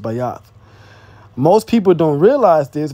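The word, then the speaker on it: בית: The second letter in the Hebrew alphabet is Bayath. It says Bet, but it's actually pronounced Bayath.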